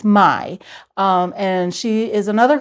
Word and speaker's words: Mai: I was pronouncing it May, but it's my um and she is another close friend in the town.